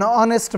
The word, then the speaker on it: honest: umbrella an hour an honest man and air it will be noticed that the words our honest begin with a vowel sound as the initial consonant H is not pronounced before a word beginning